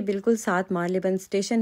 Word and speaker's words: Marylebone: करना होता है और पहले मैं इसको मर्ले बन कहती होती थी तो लेकिन आज